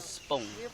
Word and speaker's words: spung: You look in that tree that we call spung, spelled with S-P-U-N-G.